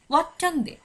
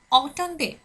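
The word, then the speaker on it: artonde: এখানে বলার সময় কিন্তু আমরা ওয়াট্টন্দে বলছি না, বলছি অটন্দে, অটন্দে।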